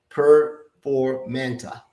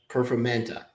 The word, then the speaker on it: Performanta: Performanta. Performanta.